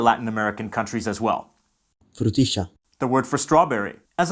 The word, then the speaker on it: frutilla: frutilla, Why is there a sh sound here? In Rioplatense, the sound represented by LL is pronounced sh, rather than the typical y or dy pronunciations. frutilla, Calle.